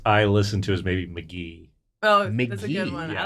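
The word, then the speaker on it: Mk.gee: GE and pronounced McGee and is this rock and roll or is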